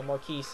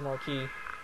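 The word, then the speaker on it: Marquis: telling me to to pronounce uh Maris as Marquee cuz you know whatever why is there an S there stupid silent consonants anyway alus has a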